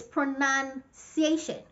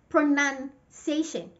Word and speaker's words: pronunciation: And the noun comes without the letter O, pronunciation.